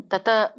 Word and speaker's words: ತತ್: ತತ್ ಕ್ಷೇತ್ರಂ ಯಾದೃಕ್ ಚ ಯದ್ವಿಕಾರಿ ಯತಶ್ಚ ಯತ್ ಸ ಚ ಯೋ ಯತ್ ಪ್ರಭಾವಶ್ಚ ತತ್ಸಮಾಸೇನ ಮೇ ಶೃಣು. ಹರೇ ಕೃಷ್ಣ. ಇದರ ಒಂದು ಉಚ್ಚಾರಣೆ ತತ್ ವ್ಯಂಜನ ಇದೆ. ತತ್ ಕ್ಷೇತ್ರಂ, ತತ ತಪ್ಪು, ತತ್ ಕ್ಷೇತ್ರಂ ಯಚ್ ಯಾದೃಕ್ ಚ ಅಂತ ಹೇಳಿ.